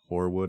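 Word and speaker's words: Hoarwood: quick point out that horwood is spelled h o a r WOD D just to be clear yes it's like hor Frost yes I don't I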